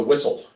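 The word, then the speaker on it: WISIL: And they pronounce it the whistle. They just don't have the H or the T.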